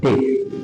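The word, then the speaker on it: debt: খেয়াল করে দেখো এখানে বি এবং টি কিন্তু পাশাপাশি আছে, যে কারণে এখানে ডেট উচ্চারণ হচ্ছে ডেট।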